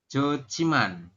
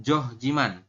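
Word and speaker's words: 좋지만: Terus kita bacanya menjadi jociman, bukan johjiman. Bukan jojiman, itu juga bukan. Tapi jociman.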